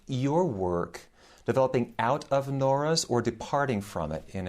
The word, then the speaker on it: Nora: that the French intellectual Pierre Nora, or Nora to give it its French pronunciation, called the lieu de mémoire, translated either as sites of memory or realms of memory.